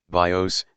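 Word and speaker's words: βίος: the name of Life bios the accent being this time on the first syllable and its work is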